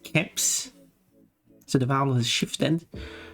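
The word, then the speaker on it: keps: in Swedish it's pronounced caps so the vowel has shifted so but the word has been respelled to match the Swedish pronunciation uh yeah to mat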